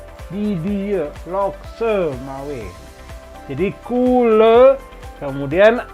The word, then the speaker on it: couleur: Kemudian ini dibacanya couleur, couleur, karena C ketemu O itu ko. Kemudian O, U itu bunyi U biasa di bahasa Indonesia nih. Kamu, tahu. Kemudian E, U itu berbunyi E bahasa Sunda atau E bahasa Aceh.